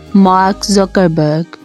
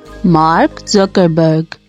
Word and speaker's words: Mark Zuckerberg: name So let's start the correct way of pronouncing his name is Mark Zuckerberg Mark Zuckerberg engak bisa bahasa Inggris Nah itu adalah konspirasi